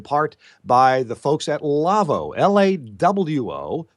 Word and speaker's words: Lawo: to you in part by the folks at lavoo lawo pronounced lavvo it's German audio console manufacturer and lavoo has